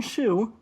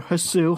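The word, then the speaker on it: Hsu: and I saw that Martin Shu, or Hasu, however you want to pronounce it, Martin, last name spelled H-S-U. I think it's just Sue.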